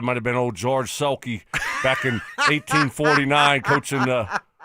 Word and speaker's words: Selke: The Sulky Award. Not Sulky. Oh. Selke.